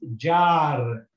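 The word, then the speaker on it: جار: Ja, and Kha, and it's got one dot under it, so it must be a Ja. So, and it's got a Fatha and a Alif to follow. It means it's a long movement, so it's Ja, and here it's got the Ra, which is got nothing on top of it, so it's silent. So we read this as Jar.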